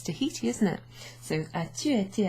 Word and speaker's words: Tahiti: Well, it's Tahiti, isn't it? So as-tu été à Tahiti? On ne prononce pas le H.